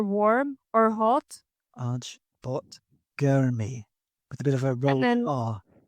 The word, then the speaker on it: गर्मी: Arch bot Gurmy with a bit of a And roll then R.